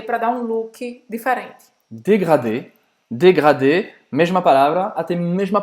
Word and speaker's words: dégradé: Dégradé. Dégradé, mesma palavra, até mesma pronúncia. Dégradé, também esse R que você vai precisar fazer na garganta.